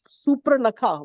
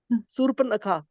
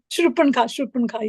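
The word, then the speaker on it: शूर्पणखा: call, but yesterday I was mentioning that, like Supranakha, whatever name, am I saying it right? Surpanakha. Shurpanka, yeah.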